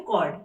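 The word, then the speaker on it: chord: कॉर्ड को यहाँ पे बहुत लोग इसको चॉर्ड भी पढ़ते हैं, बट एग्जैक्टली इसकी प्रोनाउंसिएशन होती है कॉर्ड, ठीक है।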